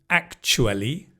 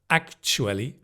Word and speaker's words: actually: And the next one, there are two ways of pronouncing this. It could be actually with a ch actually or actually like the film Love actually.